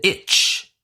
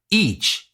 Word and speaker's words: itch: want to talk about the itch the itch if you say it people will think you're talking about each e a c it's a different thing each like every so it is important